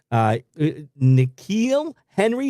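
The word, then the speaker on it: N'Keal Harry: It is still unclear whether star receiver N'Keal Henry, is that how you say his name?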